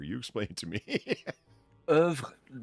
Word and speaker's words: oeuvre: Angry Dog is a surprising component of Edvard Munch's oeuvre.